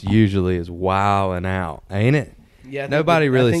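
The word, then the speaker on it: Wild 'N Out: it's pronounced usually is wild and out ain't it yeah nobody really said D silent nobody nobody really says wild and now yeah it's gotta be like a silent D in the urban dictionary right so you know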